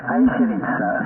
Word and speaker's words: Acirits: précis attention faut s'accrocher, je vais épeler. C'est Alpha, India, Charlie, India Roméo, India Tango Sierra, ça se prononce Airit.